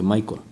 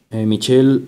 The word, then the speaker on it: Michel: Bueno, aquí un paréntesis, aquí dice Michelle, pero luego en otros países se pronuncia Michael. Así que lo dejemos en Michelle. Michelle Foucault, sobre quien Nicolás Márquez profundizará más adelante.